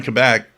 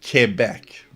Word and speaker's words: Quebec: Because here in Quebec, when a Quebec French speaking person talks to you in English, you won't hear with or without you.